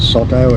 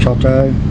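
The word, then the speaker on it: Coto: It's not soto, it's choto.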